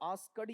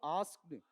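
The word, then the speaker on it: asked: इसका उच्चारण बताओ। आस्कर्ड या आस्क्ड द या ट आस्क्ड। ठीक?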